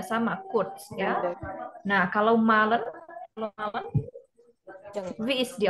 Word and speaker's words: malen: Nah, kalau malen, wie ist die Aussprache?